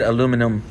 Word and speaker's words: aluminum: comes in this extruded aluminum aluminium case for those you guys from the uk that like to point out that i you know i'm not saying it correctly aluminium box or aluminum box for the rest of us um it's this model